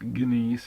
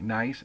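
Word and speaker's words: gneiss: so it looks like ginise or gice but it's actually pronounced nice just like ni I but just spelled differently nice and slate these are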